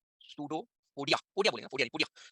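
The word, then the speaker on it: pseudopodia: Spelling है सूडो पोडिया, पोडिया बोलेंगे, पोडिया नहीं, पोडिया।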